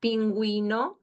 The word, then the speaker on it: pingüino: And when it is with the G-U-E, with the diéresis, the two dots, you pronounce it as well, okay? Like the examples here, pingüino, bilingüe, okay?